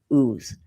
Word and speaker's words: Oz: And I think it's pronounced like ooze. It's not pronounced oz.